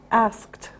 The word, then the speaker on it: asked: now remember for pronunciation after K it's a t sound asked okay the next one